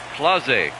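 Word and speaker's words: Clase: it is okay the PA announcer called it claz pronounced it CLA I was listening to him in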